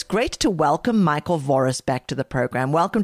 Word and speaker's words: Voris: How do you pronounce it? Michael Voris. Oh, just you're like me. Voris.